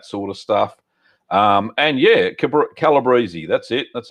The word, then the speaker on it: calabrese: And yeah, calabrese, that's it.